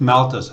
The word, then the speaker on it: Malthus: It's written Malthus, M-A-L-T-H-U-S. It's pronounced Malthus, I think.